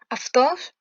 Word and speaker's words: αυτός: Là, on vient de le voir, ça se prononce Av. Avtos, O, Anthropos, on a déjà vu ce mot.